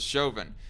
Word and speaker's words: Chauvin: How do you get the pronunciation of Chauvin? I look at that name and I read Chauvin because it's A-U.